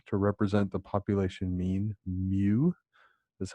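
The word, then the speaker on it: μ: this Greek letter to represent the population mean mu is how we pronounce that Greek letter recall with proportions we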